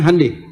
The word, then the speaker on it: Hyundai: Honda mereka bikin Honda Hyundai itu dibacanya Handai ya jadi selalu begitu ya